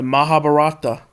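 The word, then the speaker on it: Mahabharata: The Mahabarata let's go ahead and let's go ahead and see how this word is pronounced.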